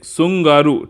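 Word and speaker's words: Tsugaru: तो अगला जो है ये है सुंगारू, टी साइलेंट रहेगा, सुंगारू स्ट्रेट, ठीक, ये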